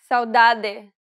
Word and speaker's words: saudade: First, let's see the two ways you can pronounce the D. Saudade, saudade.